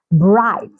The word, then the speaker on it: bright: we say hi light bright through through night night fight fight so can you see these examples have the G come right before the letter H but the g is silent so these are some